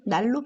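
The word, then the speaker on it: 난로: 를 쓰면 5 읽어볼까요 써있는 들으면 난 로 입니다 그런데 아 날씨가 춥다 난 로비 자 이렇게 하지 않으시죠 우리는 날로 피자 이렇게 아시잖아요 예 그러니까 난 누구 라고 써 있어도 실제로는 메일로 익어서 날로 이렇게 읽는 다는 겁니다 그러니까 써있는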